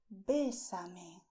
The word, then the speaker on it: bésame: You just say, bésame. Bésame, stressing the e, bésame.